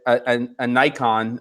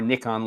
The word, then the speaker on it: Nikon: looking you're looking at an icon or a nikon lens depending how you pronounce it and you find